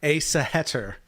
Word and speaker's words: Æsahættr: Æsahættr, I believe is how you say it.